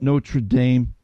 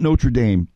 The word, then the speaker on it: Notre Dame: little bit transparent here until this past week I've always pronounced that Notre Dame everybody I know around me on Long Island pronounces at Notre Dame and all week long I'm here no true Dom no true Dom and I'm